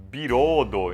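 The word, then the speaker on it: ビロード: a palavra em ser a palavra veludo se pronuncia como biroldo em japonês tipo não é nem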